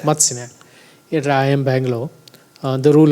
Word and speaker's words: Matsya Nyaya: Yeah, is that pronunciation? Matsya Nyaya. Matsya Nyaya.